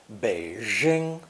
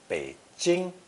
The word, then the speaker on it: Beijing: people mistakenly pronounce it beijing as if it were a french j sound that's obviously incorrect the pronunciation is much closer to the english j sound beijing nanjing originally spelled nan